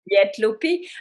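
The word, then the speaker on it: Léttlopi: So this is how you pronounce it, Lietlopi, and it's actually two strands of the PurlCast that have been two unspun that have been slightly twisted together.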